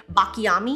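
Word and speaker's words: Baklamì: This is the Bulgari Bakla Yami is how you pronounce it.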